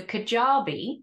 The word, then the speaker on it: Kajabi: So Kajabi, as it's pronounced, is that they are the people that I build my website with.